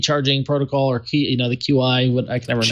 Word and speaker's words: Qi: I mean, I know Android has really, kind of embraced wireless charging and the Qi charging protocol, or Qi, the QI, what I can never pronounce it.